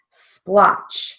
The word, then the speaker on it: splotch: is a long e splotch now splotch has a broad a sound but it's spelled with an o so we keep it